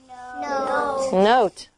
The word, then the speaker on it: note: And we add an E. Note.